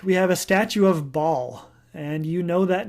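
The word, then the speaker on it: Baal: Bible ba Apostrophe a they actually would have said Bal with a nice glottal stop in the middle but we say ball or sometimes Bale in English Bale always kind of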